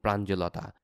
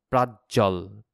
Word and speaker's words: প্রাঞ্জল: সেটা হচ্ছে অর্থব্যাপ্তি এবং প্রাঞ্জলতা। ওই প্রাঞ্জল রে আগে আমি উচ্চারণ করতাম প্রাজ্জল, প্রাজ্জল বলতাম সম্ভবত।